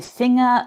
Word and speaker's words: Finger: Here you can hear again when I say finger that I'm not really pronouncing the R in the end.